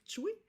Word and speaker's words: Ptuj: En après-midi, on va se rendre à Tchoui. Ça s'écrit T-P PTUJ, mais on prononce Pčuj, l'une des plus anciennes cités de Slovénie, qui